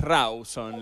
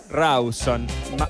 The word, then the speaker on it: Rawson: Es Rawson, la capital de Chubut. Rawson. Marce. Creo que se pronuncia Rawson.